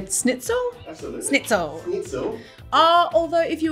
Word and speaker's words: Schnitzel: schnitzel schnitzel schnitzel it's schnitzel with an esh with a shh like in sherry what do i say